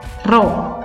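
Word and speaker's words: ρ: hurufnya seperti huruf P Tapi bacanya apa Rodja bacanya roh seperti satuannya apa kg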